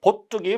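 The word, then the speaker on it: 봇둑: 순우리말과 한자어로 된 합성어로서 앞말이 모음으로 끝난 경우 뒷말의 첫 소리가 된소리 발음한다. 보뚝이 바로 이것입니다. 보뚝의 보가 보보자거든요. 여기에 둑이 결합된 거예요. 그래서 보뚝 이렇게 된소리 발음 나니까 사이시오 붙여서 보뚝 이렇게 쓴 거예요.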